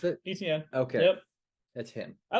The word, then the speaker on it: Etienne: Is that how you pronounce it? Etienne.